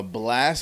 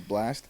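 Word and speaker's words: Blxst: got the other people oh two c uh blast which is spelled b-l-x-s-t so i'm guessing it's blast nope ddg who was the 10th spot winner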